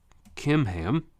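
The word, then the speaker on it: Chimham: they head to Guth kimam so in English it's with a CH but the Hebrew language doesn't have a a CH sound like we did so he pronounced those like a k kimam is actually a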